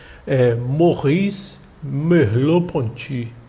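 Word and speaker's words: Merleau-Ponty: frente se a gente tiver tempo para ver morri loponte é o nome dele resumo esse movimento realizado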